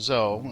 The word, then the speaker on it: Zoe: speaking of mods zo and it is actually pronounced zo so uh you heard me call her Zoe at the beginning and but I had uh emailed the message author who got back to me and where he's from uh Zoe is actually just pronounced zo and not Zoe so I just wanted